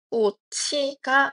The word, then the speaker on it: 꽃이: 따라서 꽃이의 발음은 꼬치가 맞습니다.